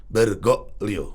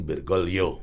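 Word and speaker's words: Bergoglio: melahirkan paus Eh Fransiskus itu bergolo bacanya kalau secara Spanyol bergoo Oke kalau cara Itali bergolio Ah gitu mirip-mirip itu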